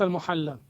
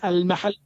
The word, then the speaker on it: al-Mahalli: It is not al-Muhalla. What it You is? don't understand. What it is? It is al-mahalli.